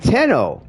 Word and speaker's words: Tenno: to the operator, it's he's like Tenno, but it's spelled just like when I'm putting chat 10 no right and then you